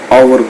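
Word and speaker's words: hour: Example है, तो इसमें देखो एच से स्टार्ट हो रहा है हालांकि, लेकिन इसको यदि हम प्रोनाउंस करते हैं तो ये हावर नहीं आवर कहलाता है।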